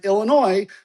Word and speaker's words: Illinois: ois forming the word Illinois, but once again, that S is silent.